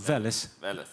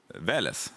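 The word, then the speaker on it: Veles: the book of valis do I pronounce it correctly book of valis Val okay behind the microphone please thank you no no so how do I how should I pronounce it correctly because he's from North Macedonia vales vales yeah book of Val yeah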